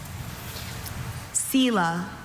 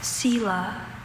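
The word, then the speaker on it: selah: I have sila cil or sila. Sila sila.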